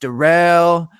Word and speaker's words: Daryl: It's spelt Daryl, but it's pronounced Darrell.